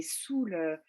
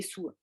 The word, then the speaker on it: saoul: Et on prononce les L. Mais il y en a qui le prononcent, il y en a qui le prononcent pas. Moi, en temps normal, je le prononce pas. Je Mm, dis oh, il est saoul. ok, Mais il y en a qui le prononcent. Donc vous pouvez prononcer les deux, c'est pas un problème.